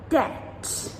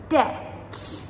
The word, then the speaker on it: debt: Subtle, subtle, doubt, doubt, debt, debt, numb, numb, plumber, plumber. So, as you can hear in all of these words, that letter B, we do not pronounce it ever.